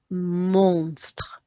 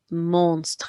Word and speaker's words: monstre: And that's pronounced monstre, monstre, because the ON goes on.